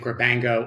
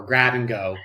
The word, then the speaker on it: Grabango: whether people pronounce it grabango or grab and go the company actually does spell out grab and go which is why it's